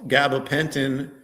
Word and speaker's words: gabapentin: And there are people who went to their doctor, and their doctor prescribed this gabapentin. Is that how you pronounce it? Gabapentin? Yes.